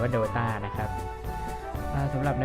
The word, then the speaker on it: Dota: เข้า สู่ เน Play doa นะ ฮะ สำหรับ 2 Episode ก่อน หน้า นี้ ผม อ่าน ชื่อ เป็น Do a ต้อง ขอ อภัย ด้วย นะ ครับ จริง ๆ อ่าน ว่า ดต้า นะ ครับ อ่า สำหรับ